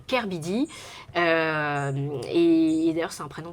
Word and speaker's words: K/Bidi: Donc moi, c'est pour ça que quand les gens me demandent comment on prononce, je leur dis on prononce Kerbidi.